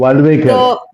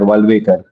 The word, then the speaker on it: Walvekar: मुझे नहीं पता मैंने नाम सही प्रोनाउंस किया है कि नहीं, लेकिन आई एम जस्ट ट्राइंग। तो वाल्वेकर. It's वाल WLVKR. वाल्वेकर.